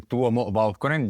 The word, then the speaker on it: Tuomo Vauhkonen: So my name is actually Tuomo Vauhkonen. You got it pretty close, but it's good. The name is, from Finland, so it's a Finnish name.